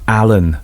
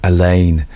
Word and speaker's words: Alleyn: before you hit the keyboards, before you tap out, I know it's Inspector Allen, not Inspector Elaine.